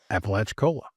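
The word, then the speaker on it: Apalachicola: It's Appalachiccola.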